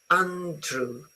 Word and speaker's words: Andrew: Very often, remember, one thing the Italian does to some English words is insert a sound like E everywhere. Okay, don't. Andrew, it's oo. Okay, like this. Andrew. Okay, it's not Andrew.